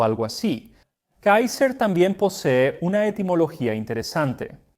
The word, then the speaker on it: Kaiser: Y la pronunciación alemana de Kaiser en realidad se parece mucho más a cómo los Césares lo habrían pronunciado, porque César es una pronunciación posterior del latín, mientras que el latín clásico pronunciaba todas las C como una k fuerte, así que ellos lo habrían pronunciado Kaiser.